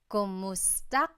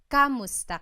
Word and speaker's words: kumusta: are you in Tagalog, it's Kumusta ka? Kumusta ka? So it's spelled K-U-M, kumusta ka. But sometimes you might hear some people say kamusta ka, like it's a K-A sound.